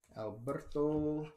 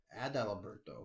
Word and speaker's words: Adalberto: Right, Alberto Mondesi. Oh, Adalberto. Oh, I bet. Saying his name wrong for years.